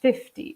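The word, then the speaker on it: fifty: So 50 is like when you have the first syllable emphasized, 50, and this is 15.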